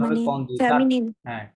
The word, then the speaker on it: candidat: ও বেশি থাকবে এটা তখন উচ্চারণ হবে মানে কন্দিদাত, ফেমিনিন।